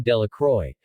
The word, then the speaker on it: Delacroix: Harry Jones and Dickie De La Croix the villagers pronounced this name delacroix eventually made a great